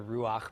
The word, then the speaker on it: Ruach: be underneath the hay so before you think everybody's pronouncing it wrong and they should be calling it you know the Rue ha ha kodesh it is in fact the Ruach because of this particular